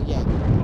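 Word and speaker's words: Joerger: It's spelled J-O-E-R-G-E-R, but it's pronounced Yeager.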